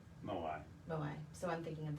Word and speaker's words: Moai: It's not Maui, Moai.